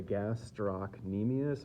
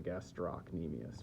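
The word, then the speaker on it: gastrocnemius: here which is the gastr nemus or the gastrus uh it has a c in it you can pronounce the c or not the gastrus or the gastro nemus right here two major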